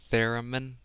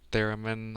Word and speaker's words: theremin: theremin, theremin or theremin. Short e in the middle.